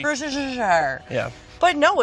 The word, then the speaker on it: Worcestershire: No one knows how to say it. Yeah, we say Worcestershire. Worcestershire.